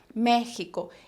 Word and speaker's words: México: por una cuestión histórica ellos decidieron mantener la grafía arcaica pero siempre desde que el estado el país surge se pronunció como si fuera una jota vale méxico y no solamente la